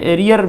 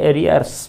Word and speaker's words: arrears: ये बहुवचन में एरियर हम लोग बोल देते हैं, एरियर, एरियर, लेकिन वो है एरियर्स बहुवचन, एस लगा के बोलते हैं हम। एरी या आर यहाँ साइलेंट हो जाएगा, आ इसका उच्चारण ज, एरियर्स, एरियर्स हमेशा।